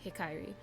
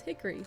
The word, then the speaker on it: Hikairi: girl named Hikairi, and yes, it's pronounced Hikairi. So many people will sit here and be like, it's Hickory. No, it's not. It's not Hickory 6.